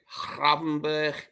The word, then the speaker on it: Gravenberch: Is it Birch or Berch? I don't know. Berch, you pronounce it Gravenberch. Gravenberch in the Dutch tongue.